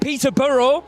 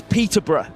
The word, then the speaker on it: Peterborough: So, it was a good attempt. Peter Burrow. We don't really pronounce the burrow. I see. It's more It's Peterbr.